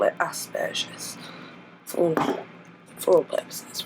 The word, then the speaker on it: Asperger's: is going to be a vlog about Aspergers, or Aspergers, how it's correctly pronounced. However, I refrain from using that pronunciation for the simple fact of people struggle enough to understand me as it is without thinking that I have burgers coming out of my butt.